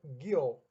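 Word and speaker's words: Giom: do segundo Rio é se escreve Gi Oh mas se pronuncia guiol Este é o que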